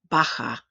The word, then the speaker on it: baja: Where there are some regional differences, the Spanish letter J sounds like a hard H. We've already seen one of these words, so pronounce after me. Ojo, ojo. Jamón, jamón. Baja, baja.